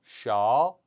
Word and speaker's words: 是: 샤, 샤, 셔, 쉬 아니죠? 셔.